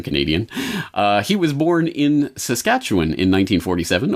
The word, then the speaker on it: Saskatchewan: he was born in Saskatchewan in 1947 or as the Americans insist on pronouncing it josh gacha whan he grew up in